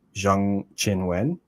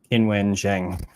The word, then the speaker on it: Qinwen Zheng: problem where so like her name is actually pronounced more like Jang Chin Wen but if you go like on the WT website she just says her name is Chinwin Jiang.